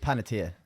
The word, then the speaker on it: Panettiere: like Panettiere.